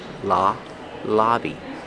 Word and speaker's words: lobby: Use the short a sound like hot and stop. La lobby.